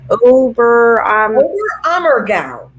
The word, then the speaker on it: Oberammergau: Oberammergau. Oberammergau, Germany.